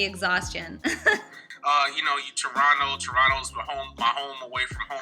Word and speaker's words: Toronto: i was gonna say how do you say it right you you actually say toronto right like everybody leave toronto americans are always saying toronto uh what's your favorite